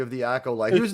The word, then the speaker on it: acolyte: It's pronounced acolyte.